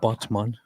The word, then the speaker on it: Batman: but there is a a place in turkey named botman which just is spelled exactly like Batman so I was always